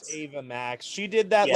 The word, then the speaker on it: Ava Max: Number four is Selena Gomez, and number five is Ave Max. Can't keep my hands from myself. I don't know who Ave Max is. It's Or I think Ava it's pronounced Max. Ava Max.